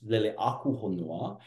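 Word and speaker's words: Leleākūhonua: Now, if we pronounce it properly with the accent bars, Leleakuhonua, now it means the watery being, birth of planets.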